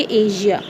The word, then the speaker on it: Asia: एशिया हम normally कहते हैं, लेकिन इसको हम प्रोनाउंस करेंगे एशिया.